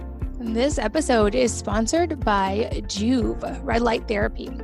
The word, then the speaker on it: Joovv: This episode is sponsored by Juve Red Light Therapy.